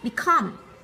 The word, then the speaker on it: become: Khi mà chúng ta nhấn trọng âm thì chúng ta sẽ để ý đến một điều, đó là gì? Trọng âm sẽ cao hơn so với cái âm còn lại.